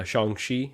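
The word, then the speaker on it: Shang-Chi: Bargain Bin especially the the Shang Chi uh shangshi is how you say it um figures so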